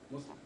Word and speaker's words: Muslim: s l i m Muslim with the soft s not the like of Z so Muslim Islam Islam